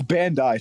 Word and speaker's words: Bandai: Bro thought Bandai Namco is gonna go like publish some fucking Bandai. It's Bandai, stupid. Everyone make fun of him for not pronouncing it right.